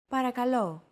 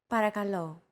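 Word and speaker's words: παρακαλώ: accentuated in Greek so make sure to stress that final syllable with the accent mark repeat after Chrissy parakalo para calo since most sounds in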